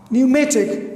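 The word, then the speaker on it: pneumatic: फिर न्यूमेटिक पी पी एन ई यू एम ए टी आई सी, न्यूमेटिक. तो इससे इन से पहले पी आए तो ये यहाँ पर भी साइलेंट है.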